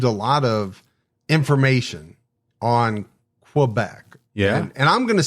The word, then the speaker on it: Quebec: Uh, yeah, actually Quebec's good. Um, here in the French Canadian, we say Quebec. Uh, I don't know you spell that. K A Y I guess would be the right sound for it.